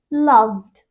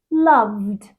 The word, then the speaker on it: loved: British English okay love when we add Ed to the end of it it becomes loved two voiced sounds together v d v loved okay but what happens